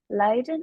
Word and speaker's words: Leiden: Kalau misalkan dia ketemu, dia itu bacanya bukan Lichten, bukan Ijen, bukan Prijs, tapi Leiden, Ice, and Price. Itu. Dia bacanya kayak E gitu.